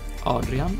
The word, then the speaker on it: Adrian: But here in Sweden, Adrian, or Adrian as we pronounce it, is very decidedly, obviously, clearly a man's name.